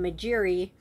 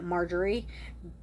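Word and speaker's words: Magiere: funny and convenient um but anyway this woman majeri that's that's her name at first I wanted to pronounce it margerie but it's clearly spelled mjeri um so the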